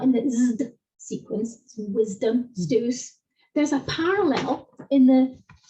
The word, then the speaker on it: Zeus: A sequence z, a lot of people say things like Zeus, when in fact it's Zeus.